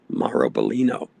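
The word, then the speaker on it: Biglino: Uh, his last name is spelled B I G L I N O. So, we as Americans have a tendency to mispronounce his name. Maro Bolino.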